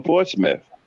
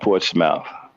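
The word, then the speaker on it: Portsmouth: oh so he's from my town he's from Portsmith okay port smou okay Port Smith it's pronounced Port Smith that's way they pronounce it not Portmouth oh okay n they don't teach okay you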